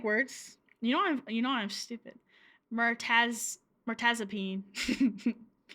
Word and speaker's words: mirtazapine: Mirtazapine. Mirtazapine. Is that really how you say it? Peen.